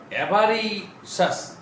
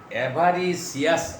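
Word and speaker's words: avaricious: সাম businessman হু আর অ্যাভারিশাস, অনেকে উচ্চারণ করে অ্যাভারিসিয়াস, আসলে সিয়াস উচ্চারণ হবে অ্যাভারিশাস, কানশাস, অ্যাংশাস এরকম উচ্চারণ হবে এটা।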